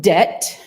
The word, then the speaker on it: debt: So debt gets a B in there. We know debt we got from French, D-E-T-T-E was how it was spelled. And now we see, it comes from debitum. Let's put the B in there. But we don't change how we say it.